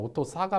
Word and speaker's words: AUTOSAR: 실무에서는 이거를 R 발음을 내서 오토사르라고도 읽는 분들이 있기는 한데 미국식으로 하면 그냥 오토사가 맞죠.